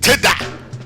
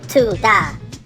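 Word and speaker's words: תודה: be saying shalom and tada. I mean, what the heck is tada? Actually, Pastor, it's pronounced tu-da, and it means thank you in Hebrew.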